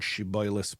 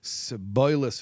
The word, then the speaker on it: shibboleth: They would pronounce the shin, that's the Hebrew letter phoneme, as a sin. So sh would become so they'd say siboilis instead of shiboilis.